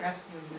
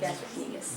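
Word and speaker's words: gastrocnemius: Is that How do you pronounce this? Gastricnemius? Yeah. Gastricnemius. Gastricnemius.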